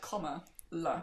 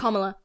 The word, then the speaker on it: Kamala: It's like comma, la. Yeah. That's how I think her niece and nephew came on stage and said it at the convention. And like said, like, some people can't pronounce it. I feel like that's an American. I feel like if she was British, it would... Anyways, she's not, so... Yeah, Kamala. That's how she's told us to say it, so that's how I will say it.